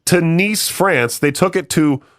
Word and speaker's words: Nice: a ticket to Nice, a coastal city in France, pronounced Nice.